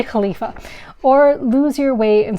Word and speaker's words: khalifa: in impressing the khalif actually in arabic is khalifa and english is caliph so i've actually been doing some kind of completely wrong pronunciation where i've been combining the two so it's actually khalifa or lose your way